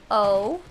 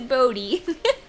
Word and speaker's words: Bode: B-O-D-E. Bode. No, it's Bodie. Is his last name McBoatface? I don't know. The child's name is Bodie, but it's spelled like Bode.